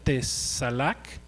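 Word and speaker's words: צלח: Hay otra palabra que se pronuncia tesalak con T al principio, CH al final, que significa empujar hacia adelante.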